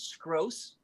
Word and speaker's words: Scross: I my character's name is Scross rhymes with gross.